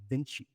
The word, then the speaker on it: Vinci: Vinci or Venshi? Beni. Right. He does the Latin pronunciation. Vinci.